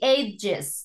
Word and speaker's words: edges: by hitting so the age come together all right the edges because it's plural edges come together thank you Fernando